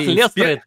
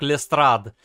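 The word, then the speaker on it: Lestrade: Инспектор, это как Лестрейд, только... А вы знаете, что по-английски фамилия Лестрейда произносится как Лестрад?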